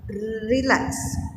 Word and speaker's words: relax: Relax. So like as you can see, it has been capitalized, showing that the another one, the second syllable has been stressed, and which is of course verb.